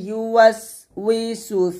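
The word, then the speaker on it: يُوَسْوِسُ: পাতলা, আর এটা হচ্ছে সদ পেশ সু, এটা হচ্ছে মোটা, এখানে মোটা করবেন।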